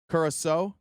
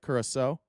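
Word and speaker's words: Curaçao: Curaso, that's how you say it. Curaso.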